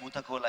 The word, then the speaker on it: Bhuta Kola: Am I pronouncing it right? Yeah, दैवाराधने Bhuta Kola ऐसा.